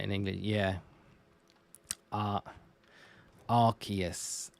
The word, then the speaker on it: Arceus: yeah uh Arceus Arceus because it's like I think a good way that I remember it is when we got the arc phone in um Legends Arceus uh Pokemon Legends Arceus you can't call it the ass phone it has to be the arc form right so it has to then be Arceus and not Arceus so that's a good